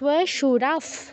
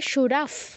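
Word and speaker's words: শ্বশুরাঃ: মা তুলাস মা তুলাস সুরাফ পৌত্রাস সুরাফ পৌত্রাস সুরাফ এখানেও ফয় হসন্ত ফুলের ফর পরে প আছে সুরাফ বলো সুরাফ পৌত্রাস পৌত্রাস শিয়ালাস শিয়ালাস সম্বন্ধিনাস তথা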